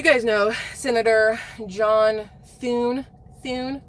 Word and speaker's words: Thune: Thune? That's how you have to say his name. Thune, like that.